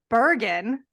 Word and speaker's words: Bergen: Usually we record at night, but this morning we have Bergen. Is that right? That's how you say it. That is No, correct. no hard G.